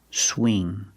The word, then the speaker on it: swing: the past swung pronunciation when you say swing use the long e sound like green beans whenever you have ing make the long e sound swing swing by in the